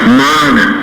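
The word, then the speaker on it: māna: Mana. Do you know the meaning of mana? M-A-N-A. Mana. No, that is mana. Same spelling but different pronunciation.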